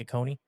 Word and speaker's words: Oconee: Lake Oconee. Lake Oconee.